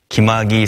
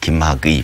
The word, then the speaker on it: 김학의: 장자연 사건의 장, 김학의 사건의 학, 그리고 버닝썬 사건의 선을 합쳐서 장학선이라고 부른다고 합니다.